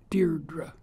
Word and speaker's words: Deirdre: Think of the word weird, spelled the same way. E-I-R-D-R-E. Deirdre.